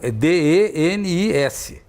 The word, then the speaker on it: Denis: O dele é D-E-N-I-S. Então, a pronúncia certa seria Denis, né?